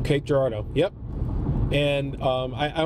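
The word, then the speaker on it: Cape Girardeau: and I've never really I've heard so many mispronunciations I never knew what was right so Cape Gerardo Cape Gerardo yep and um I I only know that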